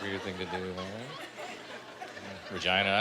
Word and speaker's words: Regina: Regina. I like Regina, man. They call it the city that rhymes with fun.